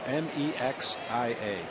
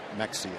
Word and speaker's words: Mexia: My worst pronunciation, most embarrassing one of a town in Texas, Mexia. Okay. And this was about 15 years ago, and I unfortunately called it Mexia.